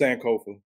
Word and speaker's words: Sankofa: what is it is that your name it's Sankofa I just it's easier for everybody just call